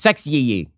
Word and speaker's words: Sexyy: watch yourself sexy red sexy is spelled with two y's I don't know what the second y adds to uh the pronunciation it's sexy well Ben if you've